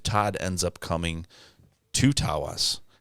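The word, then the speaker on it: Taos: ends up coming to taas Tas as the locals say I feel like that's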